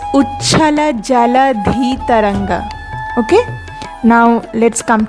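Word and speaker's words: जलधि: most of you are making the mistake of pronouncing Jaladhi Taranga as Jalasi Taranga, which is completely wrong. You have to pronounce it correctly. It's Uchchala Jaladhi Taranga.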